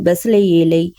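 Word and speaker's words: בצלאל: ஊரின் மகனான ஊரியின் குமாரன் பெசலேயேலை பேர் சொல்லி அழைத்து அவன் விசித்திரமான வேலைகளை யோசித்து செய்யவும் பொன்னிலும் வெள்ளியிலும் வெண்களத்திலும் வேலை செய்யவும் இங்கு பெயர் சொல்லி அழைக்கப்பட்ட பசலேல் அதாவது எபிரேய உச்சரிப்பில் பெசலயேல் என்ற எபரே பெயரின் அர்த்தம் இதில் இதில் மூன்று பகுதிகளாக பிரிக்கலாம்.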